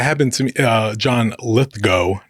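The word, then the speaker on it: Lithgow: Uh, John Lithgo, not Litho. I learned that this year. Yeah. Yeah. It's It's been very troubling. It's always been John Lithgo.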